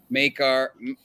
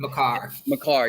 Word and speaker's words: Makar: You see any, make last before game 2, it was minus or plus 110 for Maker. I forget how you say his name. Makar, yeah, Makar, and plus 110 for